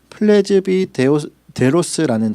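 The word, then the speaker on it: πρεσβύτερος: 이 말씀에 나오는 이 장로라고 하는 말의 헬러의 발음은 플레즈비데로스라는 단어를 씁니다.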